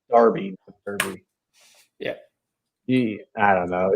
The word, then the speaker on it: Derby: question on the chat it's uh darby darby it's wayne rooney those brits man pronounce it stupid so it's darby yeah i don't know